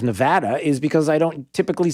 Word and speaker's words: Nevada: uh noticed this that i say nevada instead of nevada is because i don't